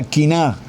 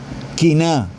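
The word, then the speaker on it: קנאה: segunda palabra es envidia la palabra envidia en hebreos se pronuncia kina quina esa palabra envidia cf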